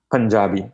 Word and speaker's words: Punjabi: Punjabi, like pun. Yeah. You make a pun, and Jabi, Jabi.